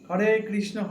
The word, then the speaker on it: হরে: হরে কৃষ্ণ কৃষ্ণ কৃষ্ণ হরে হরে, হরে রাম রাম রাম হরে হরে। সঠিক উচ্চারণটা এই।